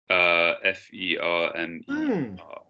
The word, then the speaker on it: fermer: How do you pronounce ER? A. Right? Fermer. Fermer, yeah?